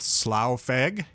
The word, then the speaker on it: Slow Fagg: Jay, you might want to help me out with the pronunciation here, but I'm gonna go with Slow Fagg. You got it. That's right.